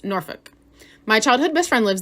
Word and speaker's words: Norfolk: And yes, if you didn't know, which I only learned this last year, but it's not pronounced Norfolk, it's Norfolk.